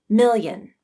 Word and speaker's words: million: of the tongue yeah if you say this word slowly you will hear a small e sound as you transition from mil to in million now speed it up to get rid of the e million million here's a